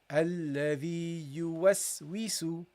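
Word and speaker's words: الَّذِي يُوَسْوِسُ: you got the waw with the kasra, we, okay? You was, we, and the sin with a dhamma, su. You was, we, su. You was, we, su. Okay? Keep it light. You was, we, su. So that's how you read this. So you go, alladhi yuwaswisu, alladhi yuwaswisu. Okay? This is how you should read it, guys.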